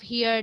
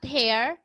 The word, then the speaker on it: her: okay we also have here the sound this is voiceless like in the word her her this not hair you will not pronounce this word as hair this is her her